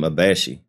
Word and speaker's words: Abashe: his so that's how you say her name abashi hashash hashash house and visit him in Jersey